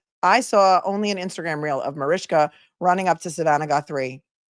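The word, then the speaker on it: Mariska: Um, she has the phonetic pronunciation of her name and it's Marishka. And if anybody pronounces it wrong, she gets really upset. So it's Marishka.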